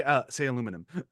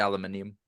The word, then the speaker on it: aluminium: Say aluminum. I love that. As a British person, I was there saying, yeah, it's actually aluminium. It's spelled aluminium.